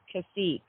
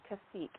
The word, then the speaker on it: Tkacik: It's actually pronounced Tkacik. The T is silent. Okay, Tkacik.